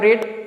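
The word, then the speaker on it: read: first form R ई ए डी रेड जो second form है spelling भी spelling तो सेम रहता है ओके लेकिन इसको प्रोनंसिएशन रेड करते हैं और जो थर्ड फॉर्म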